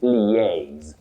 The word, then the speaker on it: liaise: But when you have that L I A, you begin with le, then you go to a. A is stressed. So, you say liaise Okay.